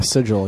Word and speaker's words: sigil: Yeah, sigil, yeah.